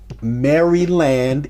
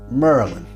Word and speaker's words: Maryland: strangers three girls from maryland in dc for all you out there who aren't from dmv you all say maryland we say merlin like a magician merlin i n m-e-r-l-i-n-h